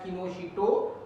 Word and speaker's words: Kinoshita: We pronounce it as Kinoshita, but we write TA.